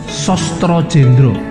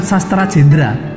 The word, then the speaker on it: Sastra Jendra: Nah, kita akan belajar itu melalui Sostro Jendro. Bacanya Sostro Jendro, bukan Sastra Jendra.